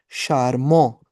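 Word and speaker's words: charmant: And this is शारमो।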